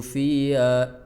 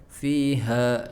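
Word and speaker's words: فِيهَا: 13 tsumma la yamutu fiha, bukan fiha wala yahya. Jadi makhraj H-nya enggak keluar gara-gara fi-nya diseret. Fiha, jadi fiha langsung mengap. Harusnya dipaksakan di dadanya. Fiha ya.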